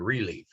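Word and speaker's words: ReLeaf: would recommend is california relief uh it's spelled just like it sounds r e capital leaf so they also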